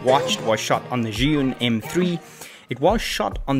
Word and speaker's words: Zhiyun: manufacturer fear this space that's june often pronounced zion and the new crane